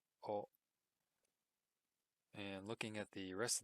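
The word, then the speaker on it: を: A lot of the times it's a particle marker.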